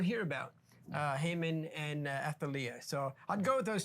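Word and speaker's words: Athaliah: other one is uh uh alathea I'm sorry I mispronounced the name athalia sorry athalia um and she's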